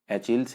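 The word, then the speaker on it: Achilles: Next one इज एचिल्स heal. इसे ऐसे ही pronounce करते हैं, इसका मतलब होता है वीक पॉइंट, किसी का कमजोर पक्ष।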